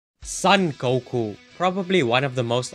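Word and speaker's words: 五: right i said happy goku day i wasn't exaggerating when i said that goku is a national treasure the numbers five and nine in japanese are pronounced as go and cool respectively so as a result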